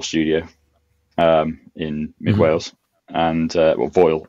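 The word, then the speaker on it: Foel: is built and established Foal Studio in mid Wales, and Foyle as it's actually pronounced, but he just rang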